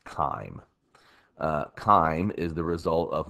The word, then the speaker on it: chyme: to as chyme uh I know it has a CH there but it is pronounced chyme almost as if it started with a K so it's not chime it is pronounced chyme chyme is the result